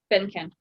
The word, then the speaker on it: Benken: Benken.